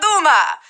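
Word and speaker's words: Dumas: to the world through Alexandra Duma the silent s there should tip-off she was French French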